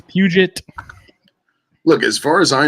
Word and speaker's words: Puget: facebook and instagram pgtown pythons not budget like i thought it was for most of my life until randy corrected me and said it's puget look as far as